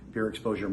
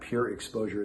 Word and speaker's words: PureXposure: PureXposure Media Group, of which we are partners in, myself, Mike, and another person.